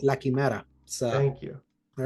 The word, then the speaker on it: La Quimera: And we have La Quimera coming to PC on April 25th. How'd I do with that Spanish pronunciation? I was going to say you nailed it. That's how it's called, La Quimera.